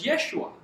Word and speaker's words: Yeshua: So, the Hebrew pronunciation of Joshua is Yeshua.